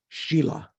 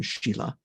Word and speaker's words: shila: The Sanskrit word for morality is shila. Did you know that? Someone? No? Okay. Not like the girl's name, Sheila, Shila.